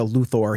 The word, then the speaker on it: Luthor: itself was exceedingly consistent I'm sure there's a Luthor here or there but Smallville was exceedingly consistent with Luther and there's a very